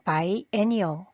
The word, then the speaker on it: biennial: 그래서 by any 굳이 한글로 발음을 적어 보면 by any by any 예를 들어 it is a bial festival by an festival이라고 할 수 있겠죠.